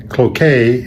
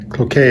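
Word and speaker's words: Cloquet: on all right well here's the pronunciation of the town you continue to butcher is pronounced croquet is pronounced croquet croquet is just south of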